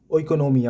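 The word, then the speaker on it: oikonomia: तो इसका प्रोनन्सिएशन देख लीजिएगा कि पहला है ओइकोनोमिया और दूसरा है क्रेमेटिस्टिक्स।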